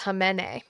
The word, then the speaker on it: Khamenei: So, it's pronounced Khamenei.